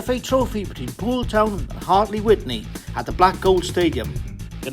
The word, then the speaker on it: Hartley Wintney: So the pronunciation you're looking for there, Dino, is Hartley Wintney.